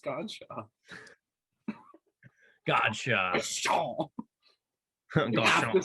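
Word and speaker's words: Godchaux: I thought it was like Goodshaw. It's just Godshaw.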